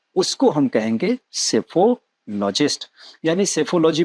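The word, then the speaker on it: psephology: चलिए अगले पे आएंगे, सेफोलॉजिस्ट। सेफोलॉजिस्ट क्या करता है? जैसे हमारे यहाँ जब भी इलेक्शन होते हैं, चलिए आपको जाने नहीं कहा महाराज, आप यही रहें। चलिए, सेफोलॉजी। सेफोलॉजी में पीएससी, पी साइलेंट है सबसे पहले, तो स्पेलिंग पे ध्यान रखेंगे।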